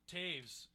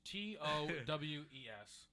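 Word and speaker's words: Toews: Kane, it's Towes, right? No, it's T-O-E-W. T-O. I tried. E. I tried. Hey, listen. That's But what you that get. just That's what you get. Your name's Yeah, pronounced exactly. Taves.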